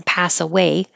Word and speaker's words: pass away: And the same as the expression pass away, meaning to die, the stress is on away, pass away.